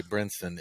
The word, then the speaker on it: Brynson: When I hear Anthony say Brynson, it's like so easy, but I don't know if you told him. Was that the correct pronunciation? It is.